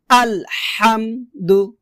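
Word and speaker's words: ٱلْحَمْدُ: আলহামদু। আলহামদ আলহামদু। তো এখানে আমরা একটা ভুল করি। সেটা হচ্ছে আমরা আলহাম না বলে বলি। আলহামদু বলি।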